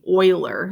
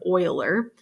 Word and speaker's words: Euler: here this was discovered by a guy named euler is how you pronounce it not euler but euler very famous mathematician but see what happens when